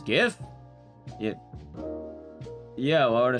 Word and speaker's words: GIF: It's the pronunciation of like a file. Two, it's definitely GIF. gift. The guy who made it says different, but he's a nerd and not a linguist.